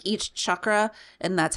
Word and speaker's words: chakra: And you turned me on to the chakra balancing or whatever, where it like each chakra, and that's how it's pronounced, chakra, is a different chant, and it goes through the different chants for each chakra.